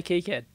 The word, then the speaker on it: KiCad: and you know how how do they pronounce it they say kicad they say key kid yeah oh yeah yeah